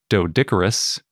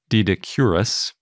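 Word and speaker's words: Doedicurus: is a later glyptodont named dodicorus also dedicurus depending on how you want to pronounce it which was in Argentina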